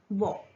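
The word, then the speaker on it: beaux: जैसे कि बॉ, तो बॉ में हमने x लगा दिया तो इसका प्लूरल हो गया बॉ। प्रोनाउंसिएशन सेम है।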